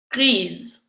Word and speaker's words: grise: E pour féminin but the only ones the pronunciation will change are the ones we did. Verte, violette, blanche et grise.